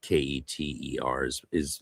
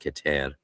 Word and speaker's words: Keter: Same with Kether, as Keter leads to, because it's pronounced Keter.